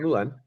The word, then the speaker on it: Moulène: Well, I'm Moulène. Thank you for pronouncing my name right. Very few people do. It's usually Europeans who get it. It's a French name, right?